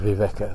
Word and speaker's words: viveka: The veka part of the word viveka, the second lump, meaning lump, actually reinforces this.